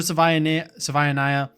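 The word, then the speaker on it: Savaiinaea: Java Savanaya very good guard. Sava Sava Naya is how you say it actually.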